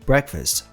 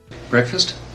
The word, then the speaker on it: breakfast: Breakfast. A maneira correta de se pronunciar essa palavra é breakfast, com a ênfase no começo da palavra.